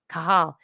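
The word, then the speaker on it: Cajal: name like Monica Perez the J is an H right Julio Julio yeah kahal Ramon eahal Hospital in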